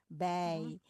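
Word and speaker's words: bij: Jadi huruf ini dibacanya ei ai ya. Jadi by ya, Bi.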